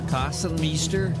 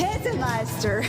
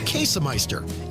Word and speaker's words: Käsemeister: Kassenmeister, Kassenmaster, Kassenmeiser. It's Käsemeister. Käsemeister.